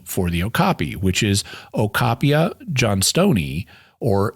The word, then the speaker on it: okapi: But that was really hard for many non-pygmies to say, and other tribes had converted that gasping sound into a K sound, and they called the animal the okapi, which is what it's known as today.